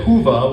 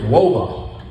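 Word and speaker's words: Whova: them I mean he says Hua which is a vacuum cleaner in England no it's wova I'm in Silicon ballet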